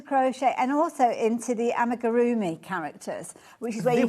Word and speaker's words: Amigurumi: Because if I say it quickly, I don't put too few syllables. Amigurumi.